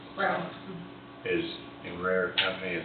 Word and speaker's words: Braun: And Braun, I'm saying it right, Brown.